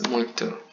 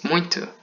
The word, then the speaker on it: muito: Actually, you say like, you write muito, but you pronounce muito.